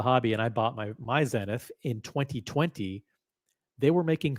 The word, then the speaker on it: Zenith: Zenith, I'll pronounce it the French way, Zenith, doesn't even make that many pieces per year to begin with.